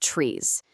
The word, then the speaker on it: TRIZ: It's called trees. That's spelled T R I Z.